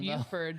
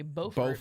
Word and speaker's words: Beaufort: Buford down in when it's actually Beaufort. Beaufort. Yeah. South Carolina. I pronounced it Buford. There was a girl. There was a But girl. It's not spelled Buford. No, it's Beaufort.